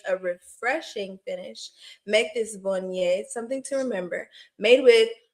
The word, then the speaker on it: Viognier: Viognier. That's how you say it. That's how you say it, y'all. I know it looks like Viognier, but it's Viognier. Okay, Viognier, y'all.